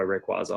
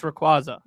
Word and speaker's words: Rayquaza: I really do enjoy Rayquaza a lot.